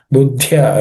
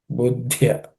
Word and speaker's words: बुद्ध्या: Buddhya, again there are three letters here actually, id, and ya. It's a three-letter compound consonant. And that the middle letter, which is a dha, has to be aspirated. Buddhya.